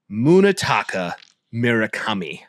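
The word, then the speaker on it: Munetaka Murakami: But all right, I will pronounce it for all of the Twitter world, Tik Tok world, and Instagram world. Right. Munitaka Miraami.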